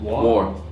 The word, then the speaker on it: our: I've also read about pronunciation of our. War. Oh yeah, that one is exclusive to Newcastle. Like war brother, war Dan. Oh, instead of our, you would say war.